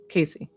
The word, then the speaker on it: Casey: Short A. Wait, wait. So, cat. Casey. Casey.